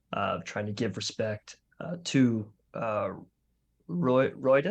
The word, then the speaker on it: Ruidus: Then Wilvin, in true reverence for that moment and kind of trying to give respect to Roidus. Is that how we're saying it? I think it's Ruidus. Ruidus? Ruidus, yeah.